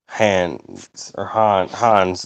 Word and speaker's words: Hans: Hans. That's how it's pronounced because he's Swedish.